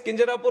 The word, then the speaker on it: Kinjarapu: And my name is Kinjarapu Ram Mohan Naidu.